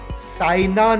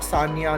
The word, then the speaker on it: Saina: the second name right the name of the famous badminton player is Saina Nehwal it is not Sanya Nehwal and I'm afraid I